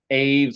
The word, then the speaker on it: aves: other one, which was aves or aves, however you want to pronounce it if you're American or British.